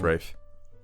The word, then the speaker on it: Ralph: Yeah, it's pronounced Rafe. Yeah, it's pronounced Rafe.